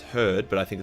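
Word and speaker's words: Hrud: fought it including the her actually pronounced herd but I think it's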